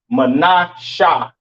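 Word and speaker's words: מנשה: Pronounce Menasha in the Hebrew, Menasha in the Hebrew, all right?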